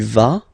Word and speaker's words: vas: Basically, you pronounce it like for the tu, because you don't pronounce the final S, okay, il va, elle va, okay, je vais, tu vas, il va, elle va.